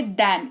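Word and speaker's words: than: अंग्रेजी में 2 वर्ड है, एक है देन, एक होता है दैन। इसमें बहुत कंफ्यूजन रहती है लोगों को। तो जिस स्पेलिंग में आपको ए दिख जाए उसको दैन पढ़ते हैं, और इसी जगह पर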